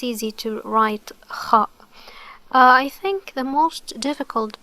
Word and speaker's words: خاء: الخاء, so it's pronounced kha, kha. Okay, how to pronounce it? The sound occurs as if you are making a grunting noise within the throat, while air moves from the upper throat to the mouth.